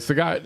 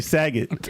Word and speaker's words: Sagat: Sagat. It's Sagat. Yeah, I say Saget. Everybody It's says Saget. Like Bob Saget. Yeah, but it's Sagat.